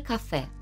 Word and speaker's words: café: I uwaga, żeby nie powiedzieć el cava albo cava, bo to zależy wszystko od tego, jak wymawiamy UB, czyli nasze V. Możemy je wymówić zarówno przez B, jak i przez W, a wyraz ten oznacza szampan lub wino musujące.